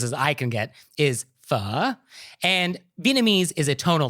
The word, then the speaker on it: phở: i can get is fu and vietnamese is a tonal language and so it's a low falling and then rising tone kind of like mandarin's third tone so it sounds like